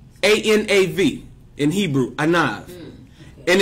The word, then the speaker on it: anav: The meek is a word called anav. A-N-A-V. In Hebrew, anav. And it's spelled Ein Nun Vav.